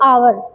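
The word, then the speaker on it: hour: तो आवर हावर नहीं बोलते आवर। ओके? तो एच को साइलेंट रखते हैं तो ऑनेस्ट एंड आवर बोलते हैं।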